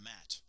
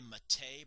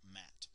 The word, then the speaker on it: matte: to something called warm matte you pronounce this Matt some people say mate but that's because they don't know what they're talking about it's warm matte so the first thing